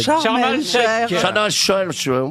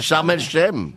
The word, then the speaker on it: Sharm el-Sheikh: je le prononce à l'égyptienne.